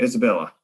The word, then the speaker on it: Isabella: The basic English pronunciation, Isabella.